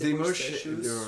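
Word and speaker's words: Desmoches: Et lui c'est Demoche, DES, Demoche, comme ça se prononce.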